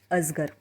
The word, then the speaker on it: अजगर: हिंदी में इसे अजगर कहते हैं, लेकिन मराठी में ज़ का प्रोनाउंसिएशन ज़रा सा इस शब्द में जिस प्रकार से करते हैं उस प्रकार से किया जाता है।